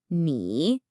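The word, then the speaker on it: 你: It's a third tone. And this one can be a little tricky for English speakers. It has this falling then rising quality. Think of your voice dipping down and then scooping right back up.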